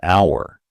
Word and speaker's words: hour: And is used before words that start with a vowel sound like an apple, an egg, and importantly an hour. Right? Notice that the h is silent.